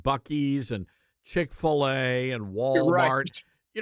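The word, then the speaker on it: Buc-ee's: going, "Oh my god, I don't know how you pronounce this Bu cheese, Bu ches, Buckee's." And everybody in the background is Buckee's.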